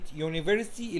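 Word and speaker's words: university: شاذه ليه لان احنا كلمه يونيفرستي اليو بتتنطق فيها يو زي ما هي فهتبقى اي يونيفرستي طب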